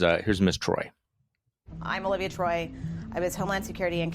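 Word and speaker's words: Olivia Troye: anonymous staffers like miles taylor and now yesterday olivia troy is that how we say her name um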